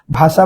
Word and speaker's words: ভাষা: ভাষা বানানে মূর্ধন্য স, উচ্চারণে হয়ে গেছে কি? তালেব্য স।